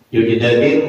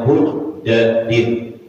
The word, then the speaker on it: Bujdadin: Jadi Abi Abdillah itu kata orang Abu Abdurrahman Sauban ibni Yujdadin maula Rasulullah sallallahu alaihi wasallam. Yujdadin. Dataibnya bitamil muhadah, jamaatan matitik 1 bu wadalil muhmalatil ula. wa sukunil jim bainahuma. Jadi bacanya bujdadin.